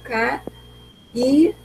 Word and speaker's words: caírem: Eu tenho o ca-i-rem. Então, eu tenho três sílabas, tá bom?